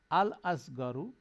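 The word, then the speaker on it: الصغرى: তারপরে সোয়াদ গয়ন র হচ্ছে ছোট, আসগরু অপেক্ষাকৃত ছোট, আল আসগরু সবচেয়ে ছোট, আল আসুগরা এটা শামসিয়া লেটার, সেজন্য আসুগরা লাম সাইলেন্ট হয়ে যাবে, আসুগরা হচ্ছে সবচেয়ে ছোট।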